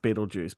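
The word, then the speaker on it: Betelgeuse: So, like, because it's Beetle Guys, I think, in the movie, pronounced Beetlejuice.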